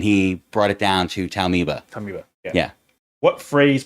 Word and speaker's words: Taumoeba: How it's pronounced? Taumoeba.